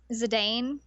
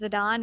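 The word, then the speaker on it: Zidane: I've always said his name is Zadane and then I found out that they pronounce it as Zidon and I try and fix it, but sometimes it comes out wrong.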